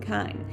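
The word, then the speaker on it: kine: comes from kindred and kind just remember that kind rhymes with swine and you will get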